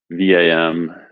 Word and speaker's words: vam: We'll be chanting the mantra, the bija mantra, WAM, VAM, WAM or VAM. WAM is the traditional pronunciation.